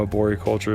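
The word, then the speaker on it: arboriculture: want to say it I know a board culture is the correct way to say it but a lot of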